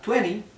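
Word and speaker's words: twenty: Primero, que la palabra 20 se escribe 20, ¿bien? Sin embargo, en Estados Unidos se suele pronunciar esta T casi como una R imperceptible, 20.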